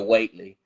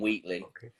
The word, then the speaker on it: Whateley: So I pronounce it in the American way by saying Lavinia Whateley, which sounds better than Wheatley, in my opinion.